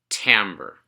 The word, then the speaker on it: timbre: Timbre, the unique sound an instrument makes. It is pronounced timbre, not timbre.